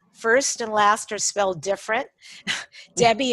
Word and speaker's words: Debbi: and last well different debbie is de bebé i there's no e it's debye de bebé